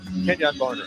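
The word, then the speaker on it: Kenjon Barner: came to campus and his name was was so unique in the way that you emphasized that syllable, you know, it it became so ingrained in all of us, Ken Yan Barner.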